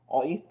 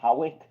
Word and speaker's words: Hawick: It's called Oik, but the place is pronounced Hawick. So I thought it was Howick, but according to my